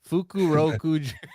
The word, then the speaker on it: Fukurokuju: How do we pronounce it? Fukurokuju.